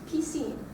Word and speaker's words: piscine: All right, and the last word I have here is all E sounds, piscine. Piscine. Great. All right, so we're going to build up the sentence, pardon, utilises-tu la piscine?